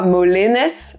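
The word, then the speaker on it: Molenez: Donc on va vraiment parler de Molène maintenant, qu'on prononcera Molenes à Molène.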